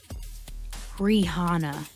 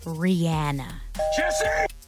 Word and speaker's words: Rihanna: name over the years and somehow still people mispronounce it. It is not Rihanna or Rihanna. It is Rihanna. Rihanna.